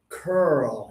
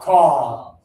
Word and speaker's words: curl: in the Olympics, it's curl. You have to think about your lips. They are forward and open. Let's do it as a class, everybody. Single finger, all three of you. Caw.